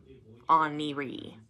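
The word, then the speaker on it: Oneiroi: n e i r o i but it's pronounced on E oniri okay I actually had to look that up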